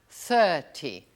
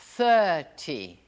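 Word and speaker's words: thirty: Você pronunciou bem esse TH? 30. 30. Olha a língua embaixo dos dentes. 30.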